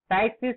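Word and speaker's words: ptyxis: टाइक्सिस का spelling P से शुरू होगा, पी टी वाई एक्स आई एस, टाइक्सिस.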